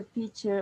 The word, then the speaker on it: picture: Was it a picture of his baby?